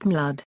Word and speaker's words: My Lord: In court they are properly addressed as My Lord, often pronounced Mlud.